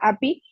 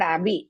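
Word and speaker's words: अपि: Uttamam Bhagini, they just pronounce the api. Gnatobi. No, api trailokya. Oh, api trailokya rajyasya. But I heard abi, that's why.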